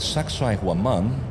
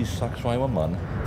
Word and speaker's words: Sacsayhuaman: The connection here at Sacsayhuaman, or sexy woman if you can't pronounce it, Sacsayhuaman actually means the place of